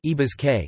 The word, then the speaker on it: Ñí Brásge: Nebraska's name is derived from transliteration of the archaic Oto words Nebraski, pronounced Ibazke, contemporary Oto Nebraj, or